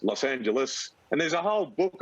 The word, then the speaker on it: Los Angeles: huge on pronunciation and he'd say it's not beijing it's beijing and it's not los angeles he's it's los angeles and there's a whole